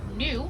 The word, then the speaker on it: gnu: have also heard them refer to as new which is spelled gnu and that is for